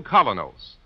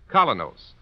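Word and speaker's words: Kolynos: is start cleaning your teeth with the new Colonos, a high-polishing toothpaste.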